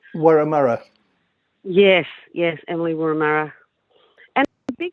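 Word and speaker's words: Wurramara: I can't pronounce her last name. Warramurra.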